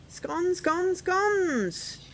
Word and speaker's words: scone: Scones! Or are we scones? I say scones, because I'm northern. First they're here, then they're gone. That rhymes with scone.